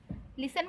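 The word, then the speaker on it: listen: लिसन मतलब होता है, देखिए LIS लिस्ट TN 10 लिस्टन लिखा है, पर इसे पढ़ते हैं लिसन। टी का साउंड वो हो जाता है, साइलेंट हो जाता है।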